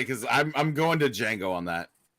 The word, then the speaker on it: Django: Okay, I was gonna say because I'm going to Django on that. The D is silent, motherfucker. It doesn't matter. It's the Django.